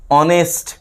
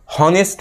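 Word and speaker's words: honest: এইচ ও এনই এসটি অনেস্ট ম্যান অনেকে হনেস্ট ম্যান ভুল উচ্চারণ করে এইচটা আসলে আমরা উচ্চারণ করি না সাইলেন্ট থাকে এইচটাকে বাদ দিয়ে আমরা উচ্চারণ করি অনেস্ট ম্যান এবং এইচ এর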